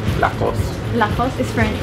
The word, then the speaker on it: Lacoste: Lacoste. Yes. So no E in the end. No. Lacoste. Remember? Lacoste. Or if you want to say it with like a little bit of a French accent, Lacoste.